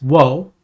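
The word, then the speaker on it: を: Yes, it is wo, and it actually is pronounced wo sometimes. It's something where you hear pronounced wo, for example, in a song from time to time. But 99.999% of the time, you will pronounce it as O.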